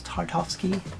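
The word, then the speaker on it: Tartakovsky: the is it the tartowski version of Clone Wars tarkovsky that's how you say it get in there have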